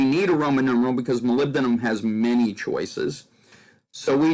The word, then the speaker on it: molybdenum: know that's a hard one for people to pronounce molybdenum molybdenum molybdenum and the phosphorus is a phosphide so